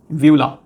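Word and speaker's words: uvula: इसको आप बोलेंगे व्यूला। यू साइलेंट होता है इसके अंदर।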